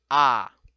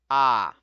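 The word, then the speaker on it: ㅏ: The first vowel is written and pronounced as ah, ah. So this is very similar to like in English, the letter A, lowercase letter a is ah, ah.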